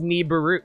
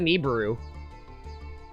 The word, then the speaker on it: Nibiru: dark magician hold a sec neberu yeah it's pronounced neberu Neu you don't know what Neu is isn't it Nibiru I pronounce it neiru but I I guess niburu is also valid too yeah I I I